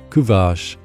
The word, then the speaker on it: Kuvasz: Kuvache. During the Middle Ages, the Kuvache, pronounced Ku-Vache, was transported to Hungary and used as a livestock guardian.